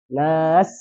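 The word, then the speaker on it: الناس: birabbinas atau birabbinas. Nah, jadi harus nas seperti itu.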